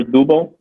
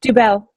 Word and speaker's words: Dubel: Jennifer Dubel? Yes, Dubel. Dubel, excuse me. I put the wrong emphasis in the wrong syllable.